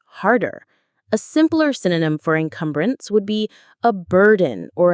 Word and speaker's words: encumbrance: it becomes a huge encumbrance on our education system. Let's look at that word encumbrance. Enumbrance. The stress is on the second syllable. Come.